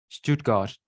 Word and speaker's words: Stuttgart: the University of Stuttgart Stuttgart yeah that's how they pronounce it in Germany uh in Germany yeah